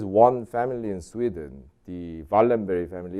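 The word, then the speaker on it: Wallenberg: family in sweden the valenberry family is spelled waldenberg but that apparently you have to read it as valenberry this family owns directly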